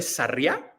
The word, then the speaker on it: Sarria: si no me equivoco, es la ciudad de Sarriá, no sé si la estoy Desde pronunciando Sarria, bien.